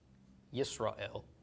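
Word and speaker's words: ישראל: It's also part of Israel, which is spelled Yod with a chirik, sin, the shva. So here's our Yis, Resh with a comments, Aleph with a tzera, and finally a lamed. So Yis, Ra, and El. Yisrael is Israel.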